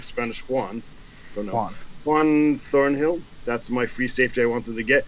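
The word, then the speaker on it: Juan: I've only read the name it's pronounced it's spelled like Spanish Wan than honor one Thornhill that's my free safety I wanted to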